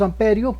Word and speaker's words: ampere: iba a reír eh el amperio nosotros pronunciamos amperio pero se escribe ampere es una esa es